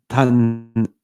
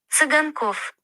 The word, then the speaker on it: Циганков: Yeah, my guy, I think it's Tanzinkov. Yeah, Tanzinkov. It translates to gypsies in Ukrainian. Yeah. All right. Hold on. Циганков. What? Циганков. Sazinkov. Savinkov, apparently. That's how you say it in Ukrainian.